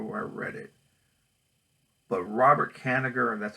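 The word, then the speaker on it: Robert Kanigher: I can't remember where I read it but Robert Canada and that's how you pronounce his name the creator of the writer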